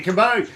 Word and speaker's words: Cabo: It's just it's so, you know, different country-ish, because it's Cabo, like Cabo St. Lucas, Cabo Rojo, like Cabo, corn on the cob.